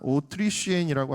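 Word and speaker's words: Autrichienne: 특별히이 오스트리아 사람이라는 말이 아 오트리시엔이라고 하는데 그 뒤에 나오는 이슈엔라고 하는 말이 프랑스에 프랑스어에서는 욕하고 발음이 같습니다. 욕으로 쓰는 어떤 동물에 대한 발음하고 같아요.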